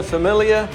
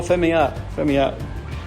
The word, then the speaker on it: Familia: And we're having a Corona Familia. Well, I haven't pronounced it correctly, but how do we pronounce it correctly there, Armando? Oh, Familia.